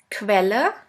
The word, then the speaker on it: Quelle: The next one is QU, which is pronounced like the letter combination K and V. Let's have a look at the example. Quelle, which means source.